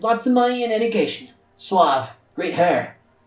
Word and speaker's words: suave: I really have a thing against saying suave, but I know that that's how you people pronounce it when you speak English. I would pronounce it suave, because that's how it's actually said in Spanish.